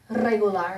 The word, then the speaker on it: regular: Regular, which means okay. I'm okay. Regular. Regular. The lar is the loudest syllable.